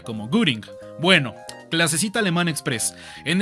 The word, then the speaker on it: Göring: Cuando a una O en alemán le pones el umlaut, se escucha como U. Hermann Göring.